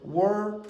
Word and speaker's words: world: You're trying to create one syllable. It's correct. In general, this word has one syllable. So you'll say world. But Scottish people make two syllables. So they'll add in an extra syllable.